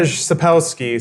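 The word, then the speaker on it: Sapkowski: a psychic understanding Andra Sapolsky sub house key I I did the phonetic pronunciation on Wikipedia and apparently the W is an F sound I had to like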